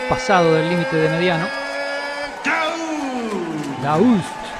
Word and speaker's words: Daoust: Doust, esa es la pronunciación fidedigna.